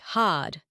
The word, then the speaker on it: hard: Think of words like park, which becomes pak, or hard, which sounds like had.